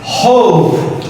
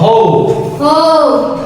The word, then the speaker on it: hope: এটা বলার বিষয় দেখো আমাদের প্রত্যেকটার শেষেই কি আছে ই ইর উচ্চারণ হবে না হোপি না কি হোপ হোপ হোপ হুপ না হোপ হোপ খেয়ার